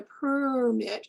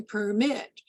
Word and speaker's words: permit: the word permit you need a permit versus the verb to permit so those two words are identical in spelling identical and syllable structure but the noun has greater temporal duration on the first syllable and you will actually